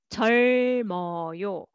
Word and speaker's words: 젊어요: And this one, first for the first syllable, and this one carry over. 짧아요, 짧아요. Next, 젊어요, 젊어요.